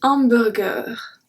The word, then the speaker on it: hamburger: Numéro 4, un hamburger. Un hamburger. So we don't say hamburger like we should. We say hamburger. Burger. We say exactly like the English way, just we do not pronounce the H.